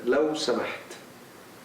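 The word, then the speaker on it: لو سمحت: Please, law samaht.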